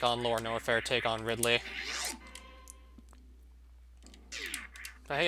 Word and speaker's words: Ridley: Was anyone like, oh, Ridley, as in the Metroid villain, Ridley? Yeah, that sounds like a pterodactyl name, more so than like a name for a human. Pronounce it Riley. So without the D.